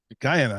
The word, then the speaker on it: Guyana: Guyana, I gotta say it right.